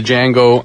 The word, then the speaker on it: Django: And uh he's also known for the song Freedom from the J the Django Unchained soundtrack. Did you just say Django? Django. It's Jango. The D is silent.